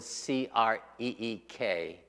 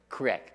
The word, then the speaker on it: creek: I was born, West Virginia, you probably don't pronounce the word C-R-E-E-K, creek. You probably pronounce that word what? Crick, that's right.